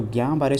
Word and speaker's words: Guillain-Barré: part is clear so gambare syndrome this is a GBS L is silent over here affects the nerves in